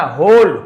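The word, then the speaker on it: whole: एंड सॉ हर, अपना होल यानी तो पूरा, है ना, उसे, है ना, पूरा को होल कहा जाता है, डब्ल्यू यहाँ पे साइलेंट है।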